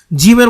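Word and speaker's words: ج: করে নামটা বলা হবে জিম শক্ত উচ্চারণ জিহ্বার মধ্যখান তার বরাবর উপরের তালুর সাথে লাগিয়ে শক্তভাবে জিমটাকে উচ্চারণ করতে হবে জিম জিম জা জি যু শক্তভাবে জা জি যু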